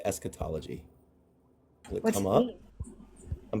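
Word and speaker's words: eschatology: I could not have I could not have pronounced it better. Esquetology. It's esquetology.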